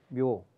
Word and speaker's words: 묘: 그리고 그 사전의 규모가이 백묘 묘 그 또 어떤 학자들은 무라고 읽기도 합니다만 묘 100씩 나눠 준다고 이제